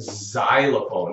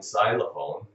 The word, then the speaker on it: xylophone: an s a s think of the word xylophone it sounds like a z in xylophone right xylophone kind of an S sound kind of a z sound okay the the Y